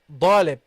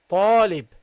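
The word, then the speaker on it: طالب: Okay, so sometimes I hear dalib, and it may seem to some students strange, but I've really had this experience with students who pronounce this as a dot. So it is not a dot. Okay, it is not da, da. It is ta, ta, talib, talib.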